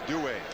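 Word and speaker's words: Duhe: just do it yeah apparently though uh the cajun pronunciation is due whatever he wants we'll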